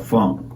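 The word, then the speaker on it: phonk: new general out now called Funk it's spelled like p h o n k and they started it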